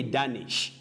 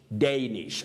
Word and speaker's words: Danish: people find themselves saying danish no don't say danish you say danish danish this letter a takes that vowel glide a danish denmark danish spain spanish so get